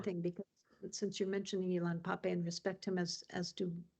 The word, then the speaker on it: Ilan Pappé: I got the name wrong. What was it? Ilan Pappé. Ilan Pappé.